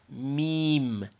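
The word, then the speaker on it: ميم: You just let your lips touch. Meme, meme, meme. And if I try to say it like with an English accent, I say meme, meme, meme. That's a little bit more on the hard side or the heavy side.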